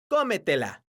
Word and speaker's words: cómetela: La palabra cómetela Es una palabra sobreesdrújula, porque su sílaba tónica es la sílaba co.